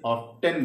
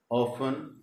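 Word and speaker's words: often: ये कई लोग इसे ऑफन बोलते हैं, कई लोग इसे ऑफ्टन भी बोलते हैं, लेकिन करेक्ट वर्ड ऑफन ही है, आप इसे ऑफन ही बोला करिए।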